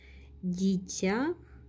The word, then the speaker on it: дитя: Ударение на Я, безударный гласный И.